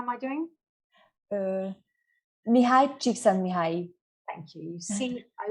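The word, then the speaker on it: Mihály Csíkszentmihályi: Mihaly Csikszentmihalyi.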